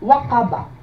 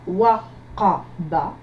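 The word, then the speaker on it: وَقَبَ: Ça se dit waqaba. Alors, waqaba. Combien de syllabes y a-t-il? Réponse 3. Ce sont toutes des syllabes courtes. Alors on y va. La lettre waw avec la alif, ça nous donnera le wa. La lettre qaf avec le fatha, ça nous donnera le qa. J'ai dit alif, je crois tout à l'heure.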